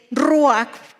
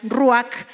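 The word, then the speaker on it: רוח: Y cuando nosotros buscamos en el hebreo el significado de espíritu, o cómo se escribe espíritu, que es ruach, que es con J al final, ruach, que se puede traducir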